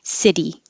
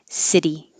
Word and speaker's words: city: a vowel and the er noise that's it city instead of sitti or siddi city city city same happens in university university and i